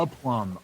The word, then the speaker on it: aplomb: Like, I know the phrase, and I know the like grace and aplomb, like handling it with grace and dignity and Confidence.